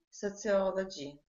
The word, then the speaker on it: sociology: Sociology. Uh-huh. Sociology has one stress syllable, sociology, all. In front of the, which O? No, the second. Second O, okay, right, very good.